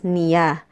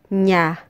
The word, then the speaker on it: niya: or her remember that Filipinos do not pronounce this as niya instead we say nya nya niya is used